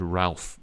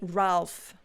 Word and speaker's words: Ralph: is that um reef it's funny reef is this sort of traditional the sort of old-fashioned pronunciation of the word ralph or the name ralph like ray fines but it's also a rafe it's become quite um